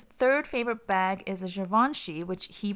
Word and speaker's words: Givenchy: And then his third favorite bag is a Givenchy, which he pronounces Givenchy, by the way.